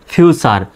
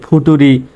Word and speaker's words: future: যেমন FUTURE, এই শব্দটার শেষে দেখেন TURE আছে, শব্দটার শেষে TURE আছে, তাহলে FU কি হয়? ফিউ। আর TURE চার হয়ে গেল ফিউচার। তো অনেকে এটাকে কিন্তু এভাবে উচ্চারণ করতে পারে যে ফুটুরি বা ফুটুরে, কিন্তু ব্যাপারটা এরকম না, ফিউচার উচ্চারণ হবে। FUTURE চার, ফিউচার।